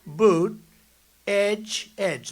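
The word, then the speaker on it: Buttigieg: know years ago I said how do you pronounce that damn name and they said boot Edge Edge the word Edge Edge that's the way it's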